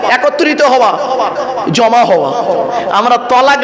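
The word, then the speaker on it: تلاق: আর তেল আমালিফ কফ, তয়াকার লয়াকার ক। তালাক মানে জুড়ে যাওয়া, মিলিত হওয়া, একত্রিত হওয়া, জমা হওয়া। আমরা তলাক না বলে সব তালাক বলি।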